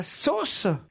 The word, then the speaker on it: Sos: Laetitia est à Sauce. Oui, c'est cela, un petit village qui se prononce sauce et qui s'écrit SOS.